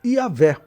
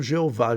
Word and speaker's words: Yahvé: Porque o nome de Deus no Antigo Testamento você pode transliterar como Jahé ou Yahvé, mas não deve transliterar como Jeová. Jeová é uma pronúncia errada, tá bom? É uma transliteração errada.